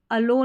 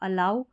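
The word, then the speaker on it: allow: we should never, अब इसको नीवर नहीं, नेवर, वी हमें चाहिए कि कभी नहीं, अलो नहीं पढ़ना, इसको अलाउ यानी होने देना, परमिशन देना,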